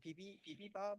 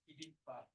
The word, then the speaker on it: bibimbap: American Airlines offer bibimbap for their meal, and they pronounce it something like bibibab or something. But the correct pronunciation is bibimbap.